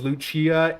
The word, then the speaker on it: Lucia: Um, Porsche, uh, Ammerick, uh, the Guardian chick is, uh, Lucia, which they pronounce her name as Luchia in the voiced lines of Heaven's Ward.